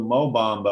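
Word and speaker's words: Mo Bamba: that one's freaking amazing slow samba rhymes with mo bombo i was so surprised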